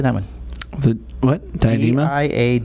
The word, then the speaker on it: Diadema: Diadema? Diadema.